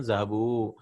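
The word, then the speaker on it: ذهبوا: And we add this alif. This alif is not pronounced. And we have learned that this alif is used as protection alif. So that we know that this is a verb. Right? It's just a writing rule.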